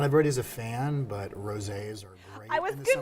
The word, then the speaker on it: rosé: Rosé is big right now. It's been big for a little bit because, I mean, it rhymes with all day, so rosé all day.